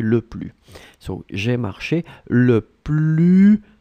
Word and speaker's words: le plus: you probably noticed that I'm not pronouncing the S in le plus. Hein? So it's quite important. You don't say le plus, hein, but you say le plus.